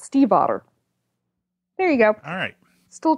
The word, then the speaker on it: Stiefvater: I had and she it's it's steve otter Steve honor ok yeah I had to look it up because I wanted to be able to say it properly because I think for the last I don't know five years i would say state vader but it's she says it's steve as in the name Steve and hotter as in